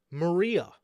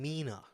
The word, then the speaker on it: Mina: ] up the name Mina even worse how do you mispronounce Mina for Maria what and Mera I mean at least Mera sounds a little closer I could see how